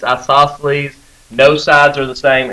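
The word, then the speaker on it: isosceles: an isoceles you might some of you pronounce that isoceles a short eye uh here's the way I remember isoceles you got two eyes right isoceles the same way you have two eyes you have two equal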